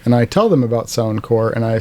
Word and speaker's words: Sound Corps: yeah sound core and it's spelled sound c-o-r-p-s and everybody says oh sound corpse and it's like no it's not sound corpse it's sound core much like americorps or marine corps or peace corps so you can find